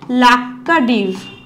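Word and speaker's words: Laccadive: যদি বুঝতে অসুবিধা হয় লাক্কাদ্বীপ ঠিক আছে লাক্কাদ্বীপ আইল্যান্ড ঠিক আছে উচ্চারণটা আলাদা এটা লক্ষাদ্বীপ এটা লাক্কাদ্বীপ ঠিক আছে তার মধ্যে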